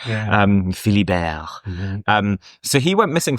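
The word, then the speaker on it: Philibert: Um I realized now that is how you pronounce it because I was thinking it was Philly but it's French isn't it? Um Philly Bear.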